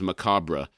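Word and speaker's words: macabre: In the US, it is most frequently pronounced with two syllables. Macob. The British or traditional pronunciation is Macabra.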